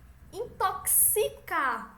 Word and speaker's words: intoxicar: Intoxicar é como se fosse um KS.